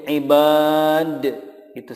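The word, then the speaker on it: عبادي: di sini contoh berikutnya ibadi di sini dipanjangkan yadinya tidak dibaca pendek contoh ibadi atau menjadi Ibad itu salah tetapi yang betul cara membacanya adalah ibadi ynya sudah disukunkan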